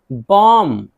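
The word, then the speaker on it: bomb: अब ये कॉम्ब बा नहीं है, बा यहाँ साइलेंट है। कॉम कॉम। कंघी, कंघी। बॉम्ब, बॉम्ब माना बम।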